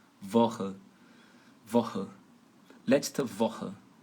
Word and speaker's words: Woche: Então, e aí, qual é a regra para o CH? Para ele ter esse som de RR. Woche, Woche, Woche.